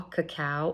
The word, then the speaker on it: cacao: cocoa is roasted chocolate a lot of people think I'm saying it wrong but I'm not so if you eat raw cacao or raw cacao nibs